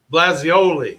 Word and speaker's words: Blasioli: about it i'm sorry his name is uh blasioli blazioli okay and nobody can pronounce his last name it's like ravioli i feel i feel